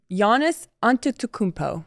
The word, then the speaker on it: Giannis Antetokounmpo: Giannis Antetokounmpo. That's perfect pronunciation.